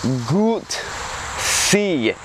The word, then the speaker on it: Guzzi: It's pronounced Guzzi. Or if you're an American, you know, just say however you want to, because we're Americans, that's what we do.